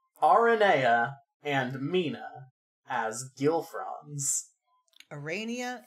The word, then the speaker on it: Aranea: Okay, do you want to know the legitimate reason that I pronounce her name Aranea? Yes. It's because I do have a tendency towards Aradia, and it differentiates them. That's fair, because I say Aradia and Arania, and that got confusing in the last episode